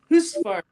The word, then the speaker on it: Husqvarna: Around here people call it Husqvarna. Yes. But Bengt Gearborg, the president of the company from Sweden, says Husqvarna. They taught us in a class. Here's how you pronounce it.